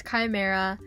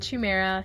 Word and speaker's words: chimera: just for the record i know it's chimera i don't know why i said chumaira so just disregard that